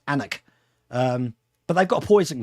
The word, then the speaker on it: Alnwick: And then she wanted me to take her to Alnwick Castle, on just north of Newcastle. It's actually pronounced Alnwick. It's actually spelt Alnwick, but in the UK it's pronounced Alnwick.